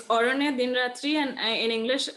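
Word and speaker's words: Aranyer: And you pick Arone Din Ratri. Do you want to Yeah. talk about? Sorry Yeah. for the So it's mispronunciation. Sorry. Yeah, it's Orone Din Ratri, and in English, I think the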